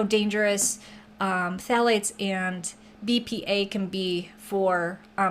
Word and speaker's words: phthalates: to say that word it is spelled with a ph at the beginning but that is silent it's p h t h a l a t e s but it is pronounced